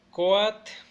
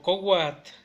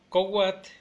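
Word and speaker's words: coatl: Entonces agua sería at, at, mujer sería siwat, siwat, serpiente sería coat o cowat, cowat es la que más usamos.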